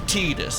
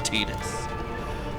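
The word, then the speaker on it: Tidus: No, the writer has chimed in like it it is Tetus and there is a reason in the Japanese language why it's Tetus because his name mean in in Okinawan dialect of Japanese, his name means sun.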